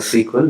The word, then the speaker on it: SQL: let's start with that you can pronounce sql is like s q l and also sql the first one that sql is what recommended nevertheless people are still calling it a sequel which is easy to uh pronounce in terms of when you are quickly talking to somebody you you take a pass and say sql rather you can say sql both are agreed initially it was coined